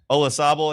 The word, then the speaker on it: Olazabal: Olazabal.